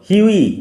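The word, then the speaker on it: Hughie: উচ্চারণ লক্ষ্য করো। হিউই, GH will remain silent.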